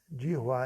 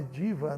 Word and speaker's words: Jihva: Jihva é a pronúncia certa. Às vezes, os avós cantam diva, né? Louva amor, diva, não é diva. Diva é outra coisa. Jihva, porque tem o H, o V e o A, Jihva.